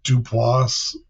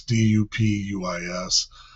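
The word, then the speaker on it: DuPuis: The Duplas campground, I'm pronouncing that wrong. It's dupis.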